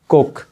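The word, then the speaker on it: Koch: तो ये different pronunciation है, अमेरिकन, ऑस्ट्रेलियन एंड यूके जो है उसके एक्सेंट में।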